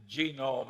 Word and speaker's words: genome: mentioned that one book genome i have a hell of a time putting the accident on the first syllable but that is a